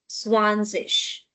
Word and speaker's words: zwanzig: Next is number 20, zwanzig.